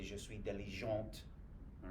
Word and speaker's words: diligente: might say je suis diligente. All right, because you're feminine. So you're going to pronounce the T because you're going to add an E at the end.